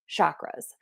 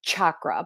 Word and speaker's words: chakra: Now, I'm still working on pronouncing them correctly in the Sanskrit version, which is chakra, but I do live here in a Western world in the United States, and I often say chakra, but it is chakra, chakra.